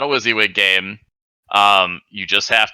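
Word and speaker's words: WYSIWYG: The rule book specifically says this game is not a Wizzywig game.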